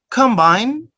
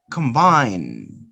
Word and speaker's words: combine: it's a verb so you change the stress and noun the stress is in the first syllable and if it is over the stress is on the second syllable combine implant implant and